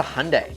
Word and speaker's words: Hyundai: product to dust a Hyundai and remember it rhymes with Sunday here's an example of